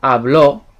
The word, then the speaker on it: habló: So for example, hablo is I speak, but habló with an accent on it is he or she spoke. So there's a difference in pronunciation and also meaning, so be careful.